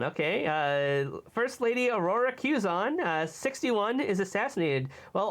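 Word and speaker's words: Quezon: Philippine first lady Aura caison did I pronounce that right I I usually heard it pronounce Q's on kuson okay uh first lady Aurora cuson uh 61 is assassinated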